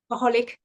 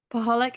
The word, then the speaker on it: Paholik: How do you pronounce it again? Paholik. Paholik.